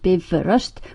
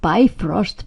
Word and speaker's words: Bifröst: Bifröst, pronounced Bifröst, by all means, not Bifrost, please. And keep the accent on the first syllable, as always in Icelandic.